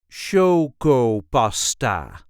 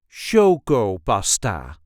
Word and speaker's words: chocopasta: Show pasta. There is a light emphasis on the first syllable. Shoggo basta.